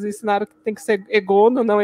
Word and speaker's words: Egonu: a gente, eles ensinaram que tem que ser Egono, não Egonu, como a TV nos ensinou, e várias outras pronúncias aí.